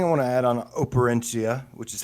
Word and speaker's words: Operencia: So the last thing I want to add on Operencia, which is how you say it, it's kind of a.